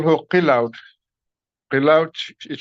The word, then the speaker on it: Qilaut: We call her Qilaut. Qilaut is spelled Qilaut, and it literally means an instrument from the great sky.